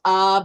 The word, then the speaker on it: av: You pronounce it together as ab or there's other pronunciations and you get father which is the strength of the house.